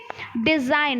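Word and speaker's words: design: होता है ठीक है डिजाइन most important डिजाइनर डिजाइन ठीक है तो डिजाइन में आप लिखने क्या हो जिला में लिखने हो लेकिन पढ़ने क्या हो डिजाइन ठीक है फिर डिजाइन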